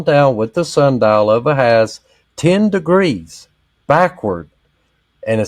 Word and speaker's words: Ahaz: on the dial of Ahaz, Ahaz or Ahaz, however you pronounce that. It's Ahaz. So, anyways, which has gone down with the sundial of Ahaz 10 degrees backward."